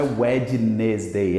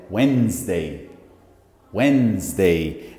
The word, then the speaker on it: Wednesday: as pessoas confundem a pronúncia dele e na pronúncia aqui ó não é wednesday é Wendy Wendy dei como se você falasse sua mente isso aqui